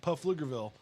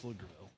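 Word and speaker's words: Pflugerville: pfl yeah love it so it's actually pfl so it looks hilarious like puff lugerville but it's just flickerville hey watch your mouth i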